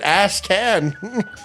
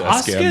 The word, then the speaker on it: Ascan: Why did you pronounce it Asshan? It's It's Asan, man.